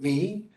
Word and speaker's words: mu: I I never with should I say it the right way which is me which no other mathematician